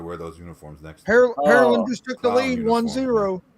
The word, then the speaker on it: Pearland: No, say it the right way, Jay. It's Pearland. Say it the right way, Jay. It's Pearland. Pearland.